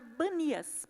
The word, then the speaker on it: Banias: a se chamar Banias, porque os árabes não conseguem pronunciar o P, né? Tanto é que se você vê um árabe falando, por exemplo, ele não fala primo, ele fala brimo, né? Então, de P passou para B.